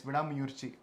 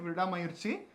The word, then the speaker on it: Vidaamuyarchi: about is VI mui did I say it right yes VI mui the the first time I think I said V mayi and some people helped me in correcting it so thank you so